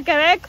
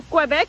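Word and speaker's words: Québec: Acabamos de llegar a Quebec o Quebec, como realmente se pronuncia.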